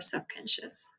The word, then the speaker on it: subconscious: پس این کلمه هم جالبه subconscious. میبینی اون ایه برعکس ما بهش میگیم شعا نه آ نه ا. وقتی بین دو تا حرف بی صدا میاد اصلا تلفظش هم نکنی ناخودآگاه یه حالت کسره میگیم شس.